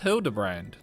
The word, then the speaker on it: Hildibrand: Pronounced Hildibrand.